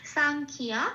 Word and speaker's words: সাংখ্য: এটাকে এবার ক্ষয়ের সাথে পড়ে দিতে হবে, তাহলে কি হবে, ক্ষয় হস্যই অন্তস্থ আকার খিয়া, ঠিক সংস্কৃতের উচ্চারণটা এরকম হবে খিয়া, সাংখিয়া।